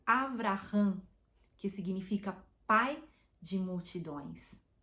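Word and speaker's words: אברהם: que significa pai exaltado ele deu o nome de Abraão em hebraico Abraham que significa Pai de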